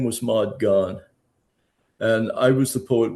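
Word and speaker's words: Gonne: Now, now, interestingly, before Ma Gone was Ma Gone. And when I knew her, her last name actually rhymed with gone.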